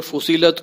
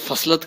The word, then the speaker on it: فصلت: سے سنیں گے تو یہ سورہ فصیلت کو سورہ فصلت کہہ رہا ہے۔ جسے تلفظ نہیں آتا